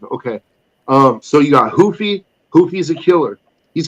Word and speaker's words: Ruffy: Wow, I can't even pronounce it. Marcio Ruffy. Hoofy.